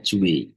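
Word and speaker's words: Dewey: Sementara e seorang yang namanya John Ju, tulisannya John Dewi tapi bacanya Ju itu melihat bahwa ee pendidikan seharusnya gak seperti ini nih.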